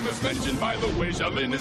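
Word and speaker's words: Xiaolin: Even flying dragons say, why'd you spell Shaolin that way? You can scratch your head all day, but it's spelled like Zion. Isn't any other way.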